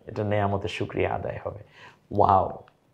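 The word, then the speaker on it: واو: ওয়াও বলার সময় মুখটা একটু গোল হবে, ওয়াও, ঠোঁট দুইটা গোল হয়ে যায়, ওয়াও।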